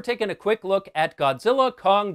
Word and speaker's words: Godzilla x Kong: a quick look at Godzilla Kong the new Empire and no I did not misspeak the X in the title is silent this was directed by